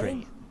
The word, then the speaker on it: Crane: Crane. Crane rhymes with train and brain and sane and grain and rain and plane and the other kind of plane and...